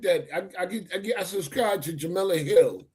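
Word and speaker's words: Jemele Hill: Um I I sent that I I subscribed to Jamala Hill. I don't know if I'm pronouncing it right. Jamal Jamal. Jamal Hill. Yeah, cuz she comes she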